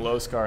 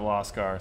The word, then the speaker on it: Loscar: I constantly call him Losar instead of Loscar.